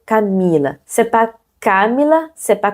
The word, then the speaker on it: Camila: Donc, on va prononcer Camila.